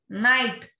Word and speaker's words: night: Night, K is silent.